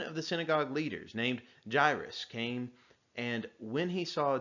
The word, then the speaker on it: Jairus: As I was reading it, I pronounced his name Jairus, but you might know it as Jairus. I don't know exactly why. It looks like it should be pronounced Jairus, but I've always heard it as Jairus. So if you call him Jairus, if you call him Jairus, I don't think that's too much of an issue.